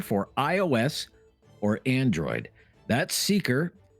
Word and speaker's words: Seekr: It's called the Seeker app. That's spelled Seekr, and it has all kinds of exclusive audio that you won't hear anywhere else. News, music, and sports. You can download Seeker for iOS or Android.